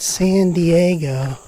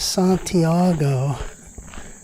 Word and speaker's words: Santiago: He was pronouncing it San Diego instead of Santiago. Wow, that's a loud bird. The T became a D.